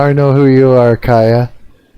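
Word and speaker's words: Keiya: K E I Y A. That would be like Ka, right? Is that correct? Ka.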